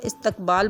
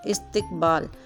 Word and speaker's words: استقبال: کو عام طور پر استقبال بولا جاتا ہے۔ اس کا صحیح تلفظ ہے الف کے نیچے زیر، سین ساکن، تے کے نیچے زیر، کاف ساکن، بے کے اوپر زبر، الف اور لام ساکن، استقبال۔ اس جیسے اور لفظ